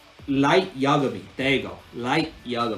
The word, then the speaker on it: Light Yagami: light yarmouth why can't i say his name light yagami there you go light yoga me there you